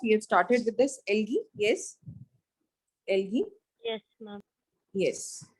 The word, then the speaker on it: algae: Some people say it as algae, but it is algae. Algae के अलावा है bryophytes. Algae, bryophytes, pteridophytes. P is silent.